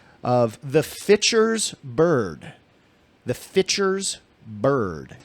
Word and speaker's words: Fitcher: I real hard and you didn't say fisher no fiter fiter as in pitcher but starting with f as in Frank fer like I heard